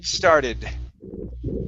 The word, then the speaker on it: started: you go good now the important thing here with this is that you do not want to finish that d sound okay you're going to mix it with the s but all you're doing is pronouncing that and that that makes the d audible okay she started she